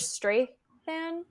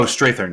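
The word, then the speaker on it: Strathairn: Is it George Strathan? Oh, Strathern. Yeah. I mispronounce his last name all the time.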